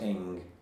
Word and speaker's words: Ng: This is by Unger and Carney, and Ing is spelt N-G, but pronounced Ing.